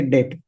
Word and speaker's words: debt: Generic product or assets are debt asset, spelling as this T is silent. So we say debt.